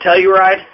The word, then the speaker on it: Telluride: Is that how you pronounce it, Telluride? Yes, that is correct.